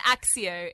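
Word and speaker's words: Accio: It was Akayo to me, and Axio in the films.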